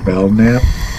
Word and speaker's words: Belknap: It is, I'm gonna butcher the town, but I believe it's pronounced Belknap, B-E-L-K Nap, Belknap, Illinois.